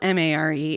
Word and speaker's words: Mare: Is mayor, because it's spelled M-A-R-E, is it supposed to be like mayor, but the way they pronounce mayor in that place? No, it's like Mare is her name, Oh.